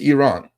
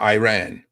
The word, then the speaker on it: Iran: one sorry exactly Jonathan it's Iran not Iran we need Elan weed